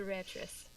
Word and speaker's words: Ratris: So, It's a Ratris. Ratris? Like Beatrice? Yeah, Ratris.